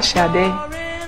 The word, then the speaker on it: Sade: My name is, my true Nigerian name, or the true Nigerian pronunciation, or as close as I can get to it, is Shade, which means crowning glory.